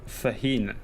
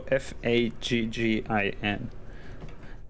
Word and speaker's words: Faggin: Yes, Federico Fahin, I think is the correct way of pronouncing. It's Federico Faggin.